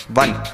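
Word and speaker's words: one: word वन जी हां वन एक ऐसा वर्ड है जिसको जब हम लिखते हैं तो वो ओ से स्टार्ट होता है पर जब हम उसे प्रोनाउंस करते हैं या तो वो वी की या तो डब्लू की साउंड देता है चलते हैं कार्यक्रम के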